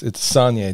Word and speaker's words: Soignier: I didn't know how to pronounce his name, and he goes, it's Soignier, just like Kanye.